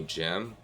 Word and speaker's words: GM: I need the MRX-009 Psycho Gundam, or preferably the HGBF Psycho Gem, which is spelled GM.